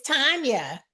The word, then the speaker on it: Tanya: So I want to find out, is it pronounced Tanya or Tanya? It's Tanya.